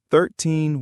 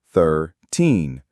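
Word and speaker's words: thirteen: In American English, for the teen numbers, the stress is on teen, 13, 14. For the t numbers, the stress is on the first syllable.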